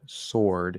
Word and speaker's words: sword: r um now words like sword which has a silent w silent W important sword it's or but the W is silent okay so that doesn't